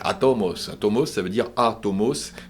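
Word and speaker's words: ἄτομος: Hein, je le prononce bien, c'est en grec atomos.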